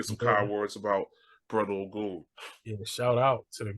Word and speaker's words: Ogun: It's Ogun. It's pronounced Ogun. What a bad dude. Yeah. Like the deity.